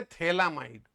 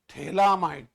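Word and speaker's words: phthalamide: बस ये ये है थैलामाइड क्या है ये थैला spelling Eli फथैला पीएच टी एच ए एल ए एम आई डी ई थैलामाइड थैला खुल रहा है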